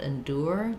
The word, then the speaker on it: endure: So a couple of different pronunciations for endure. We can do endure with a tense U sound, endure. They need to endure. We can also do endure with more of an sound. I can't endure it.